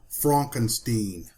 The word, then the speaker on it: Frankenstein: Frankenstein is trying to distance himself from his grandfather's work and insists his name is pronounced Frankenstein.